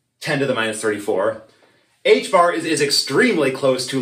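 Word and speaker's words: ħ: And you pronounce it h bar.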